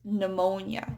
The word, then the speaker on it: pneumonia: And so it's spelled with a P. But it's not pneumonia, it's pneumonia. It's a silent P.